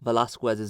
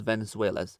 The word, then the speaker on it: Velasquez: Also, quick side note, I do want to apologize for the previous video where I mispronounced Velasquez's name and refer to him as Venezuel.